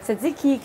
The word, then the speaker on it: tzatziki: so I'm gonna do I'm gonna do the tzatziki you competent so all you need is some